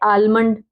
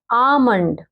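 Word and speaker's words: almond: आमंड, अब कुछ बच्चे इसको पढ़ते हैं आलमंड, आलमंड नहीं है ये भाई, इसको बोलते हैं आमंड।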